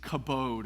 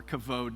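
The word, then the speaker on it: כבוד: In Hebrew, the word for glory is kabod or kavod, depending on your Hebrew how you pronounce it.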